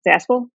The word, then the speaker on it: Zaspel: Zaspel?